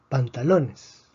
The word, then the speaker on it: pantalones: Pantalones tiene 4 sílabas, termina en S. Predecimos que la fuerza debería estar en la penúltima sílaba. Si está en la penúltima sílaba, entonces no escribimos un acento de excepción.